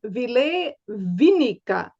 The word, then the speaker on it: Ville Viinikka: I'm your host, Naraya, and I am here today with the amazing and really fascinating Ville Viinikka. Am I pronouncing this right, Ville?